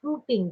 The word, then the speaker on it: whooping: do you know it sounds the same as whooping crane and it's that Burt Lading bird and it's spelled the same whooping diphtheria and pertussis are